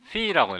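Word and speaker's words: φ: 요 각은 그리스 문자로 phi라고 읽는데요.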